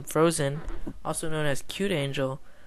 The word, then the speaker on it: Frozean: This is going to be Frozean, or I'll pronounce him Frozen, also known as Cute Angel, versus Luxury.